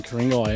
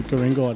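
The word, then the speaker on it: Ku-ring-gai: And it's come from the Ku'ringai descendants, from around this area of the North Shore area. That's not with a K, as the Europeans pronounce it, it's with a G.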